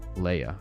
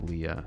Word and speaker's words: Leia: Leia. Okay, got you. It's the German pronunciation, but I like Leah as well.